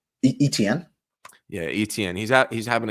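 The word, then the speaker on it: Etienne: don't even know how to say his name ety how do you say his name etn yeah etn he's he's having a good season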